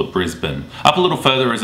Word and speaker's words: Brisbane: is Brisbane now I guess from the way it's spelled it's easy to assume that you say Brisbane but we actually call it Brisbane up a little further is a tropical tourist